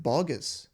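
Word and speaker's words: Boggis: This is bogus buns and bean. Oh, it's pronounced bogus.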